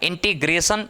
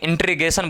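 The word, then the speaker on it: integration: ही नहीं रहा है इंटीग्रेशन शुद्ध उच्चारण इंटीग्रेशन है ना लेकिन इंट्रीगेशन बोला जाता है तो आप समझ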